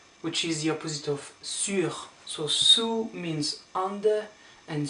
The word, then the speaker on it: sur: And you do pronounce the R here, so sur.